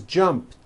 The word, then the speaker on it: jumped: So jump becomes jumped with a t sound at the end. Jumped. Of course, the word is spelled with an ed ending. It's just pronounced as a t.